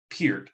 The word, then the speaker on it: Peart: But in my opinion, Neil Peart was one of the Peart, I always got to say it right, best